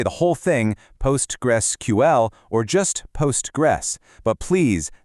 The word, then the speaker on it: Postgres: The name actually tells a story. Postgres started out as a project called Post-Ingres because, well, it came after a database named Ingres. So, the name is literally Postgres.